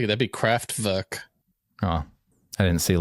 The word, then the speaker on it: Kraftwerk: I'll say that'd be Kraftwerk. Oh, I didn't see a little thing over any of the letters. So Well, W in German is a V, like pronounced as a V.